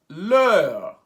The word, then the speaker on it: leur: direct we now have lear pronounced ler are the only difference